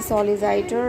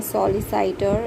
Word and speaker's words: solicitor: period of training with the firm as a solicitor architect surveyor or accountant he is already in articles my pronunciation was wrong it is not solid sight